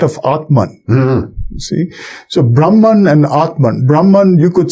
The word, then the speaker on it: Brahman: my my deepest inner self is equal to Brahman, which am I pronouncing that correctly? Brahman.